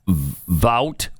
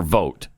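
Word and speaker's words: Vought: I always hear it I pronounce pronounced either way. Vout or vote. I've always thought vote. Vote. Yeah, I think it's vote too.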